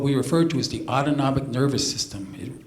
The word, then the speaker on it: autonomic: But at the same time, there's what we refer to as the autonomic nervous system. Autonomic rhymes with automatic.